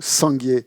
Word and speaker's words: Sangye: prière, c'est le mot Sangye. C'est le premier mot de la prière. Hein. Sangye. Sangye, ça veut dire Bouddha. Hein. Et il est constitué de 2 syllabes, Sang et Gye.